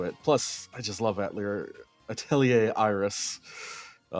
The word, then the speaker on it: Atelier: It is Atelier, right? It is, in French it's Atelier.